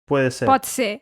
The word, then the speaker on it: potser: "Pot ser" (it could be, Catalan).